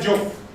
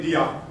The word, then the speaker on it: Diop: Now on top of all of that, Cheikh Anta Diop. Let's hear his name. Cheikh Anta Diop. I don't want to hear you say Diop. That is how English speakers pronounce French spelled words.